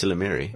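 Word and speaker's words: ysalamiri: I remember in Jedi Knight it was called Capture, and you can correct me on the pronunciation of this, Chris, the Isilamari? It's Silamiri. Isilamari.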